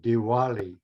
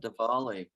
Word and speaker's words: Diwali: about that yes yeah Diwali spelled d-i-w-a-l-i or right sometimes you'll see variant spellings and um sometimes the W just like with Hawaii sometimes the W is pronounced with the V sound like Diwali so um Diwali is